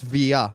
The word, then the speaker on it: Villa: love with football are Fernando Torres and David Villa. Those are the two. First of all, if you're a true Barcelonist, you would know it's pronounced via.